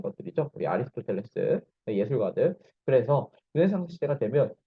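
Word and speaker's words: renaissance: 르네상스 불어로 이렇게 씁니다. 르네상스 이게 정확한 발음인데, 예, 이 르네상스 영어로 돌리면요, 리버드라는 뜻입니다.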